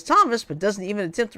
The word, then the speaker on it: Thomas: Tamumi, she says, before the graduate says his name is Thomas. She corrects herself and says Thomas, but doesn't even attempt to read his last name, Canavari.